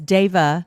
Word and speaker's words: Deva: So just the concept that these beings of light, as Deva, thank you for correcting my pronunciation, as Deva represents beings of light in Sanskrit, light is